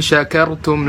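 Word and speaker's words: شكرتم: Ibrahim ayat 7 Lai syakirtum laazidannakum di sinilah insya kartun kalau orang baca Shin enggak jelas malah jadi Sin jadi la-in Sakaratul Bukan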